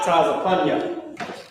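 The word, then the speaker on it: צפניה: Yep, Tazapunya. This is how you say Zephaniah.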